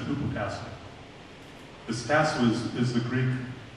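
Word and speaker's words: ὑποτάσσω: That's what he pronounces, so I just have to hypotasso. He said hypotasso.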